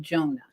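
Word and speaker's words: Jeohna: uh what is your grandson's name Jon Jona it's spelled j e o h a n a it's not the regular Jonah is in the Jonah in the well but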